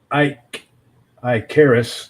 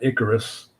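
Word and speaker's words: Ikaris: say about um oh yeah hash I Caris Ike i Caris there's a reason his name is pronounced IIs and not Icarus okay ladies and gentlemen Ike i Caris if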